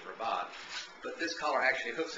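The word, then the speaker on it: rabat: put a ribot on some places you may have to call it a rabbit because they may not know that the correct pronunciation of raat is rabot but this collar actually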